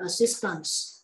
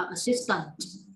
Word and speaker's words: assistance: Nhớ thổi gió ra. C-E bằng với âm S trong tiếng Anh. Chứ đừng có đọc là assistant. Nếu đọc như thế thì người ta lại nghĩ đến cái từ trợ lý trong tiếng Anh. Thì lại sai nữa.